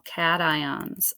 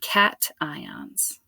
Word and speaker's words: cation: differently but they are in fact pronounced anions and ion anions and Cat ions cations so a negative ion